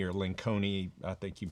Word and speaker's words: Lencioni: It's Patrick Lencioni or Lenconi, I think you pronounce his name, but a couple of different ways.